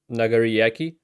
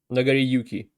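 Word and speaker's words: Nagoriyuki: of people that is the second theme for Nagariyaki. I didn't want to say it wrong. I'm gonna double check. Give me a sec. Uh, Nagariyuki.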